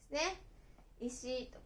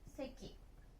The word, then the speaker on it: 石: Nó có thể được đọc là "ishi" hoặc "seki."